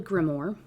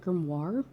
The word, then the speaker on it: grimoire: there's a book called A grimor is that how you say that word a grimor have I been slaughtering grimoire is that how you say it I've always said gmmo is it grimoire oh no I'm glad I checked this before I got too deep it's like a book